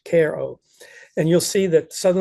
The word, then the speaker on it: Cairo: Cairo but it's pronounced Koo like a care package Koo and you'll see that